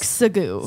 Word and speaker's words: segue: segue into a new piece of conversation is spelled like sagu for the brand that was really smart to